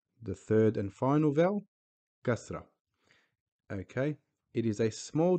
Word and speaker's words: kasra: below the letter, and its English equivalent vowel is I, but pronounced as I, like the word if, in, it, not, bite, fight, sign, which all have an I in them, but pronounced completely different.